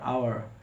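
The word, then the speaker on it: hour: कब साड होता है ओ से पहले एच आता है एच को पढ़ा नहीं जाता है जैसे एच ओ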